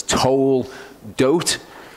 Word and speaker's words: Toldot: Okay, whenever you've got an O in Hebrew, it's a long O sound, so it's Toldot.